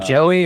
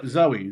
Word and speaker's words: Zoe: Uh, is it Joey or Zoe? Zoe. Zoe with a Z.